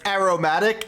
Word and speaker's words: aromatic: That's aromatic as in aroma.